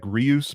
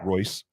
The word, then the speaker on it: Reus: So Marco Royce, like Rolls Royce, it looks like reuse, but it's Royce.